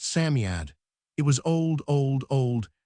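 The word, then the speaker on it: Psammead: Sami is pronounced Samiad.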